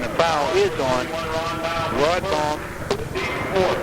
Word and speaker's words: Baum: And the foul is on Rod Baum. They say Baum, okay? All right. Pronounce that Baum. Rod Baum. Spelled B-A-U-M. Like the boulevard in Pittsburgh. Baum Boulevard.